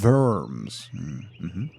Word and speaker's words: Worms: It's pronounced Worms.